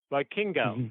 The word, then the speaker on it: Vikingo: And I went, Vikingo. I just learned the proper pronunciation myself, so that's why I'm correcting you.